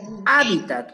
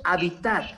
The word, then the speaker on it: hábitat: Y por favor, hábitat con acento en la A y terminado en T. No es habitat, no es D.